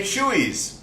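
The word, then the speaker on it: Chuy's: in a stupid way hey chewies what is what are you saying c h u y chewies go ahead and look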